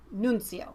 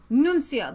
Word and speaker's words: Nunzio: Mark's says it's pronounced Nunzio Nunzio that sounds so much more Italian yeah yeah I get